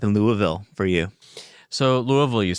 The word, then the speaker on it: Louisville: So Louisville, you said it right.